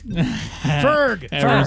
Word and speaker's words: Foerg: Did I say it wrong? You Yeah. said Foerg. Fuck. Ferg.